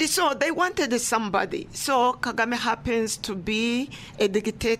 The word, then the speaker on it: Kagame: Kagame, yeah.